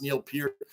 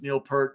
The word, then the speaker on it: Neil Peart: know his name's Neil Pierre I know it's pronounced Neil Pierre but everybody knows him as Neil perk right wrong or indifferent that's what we've called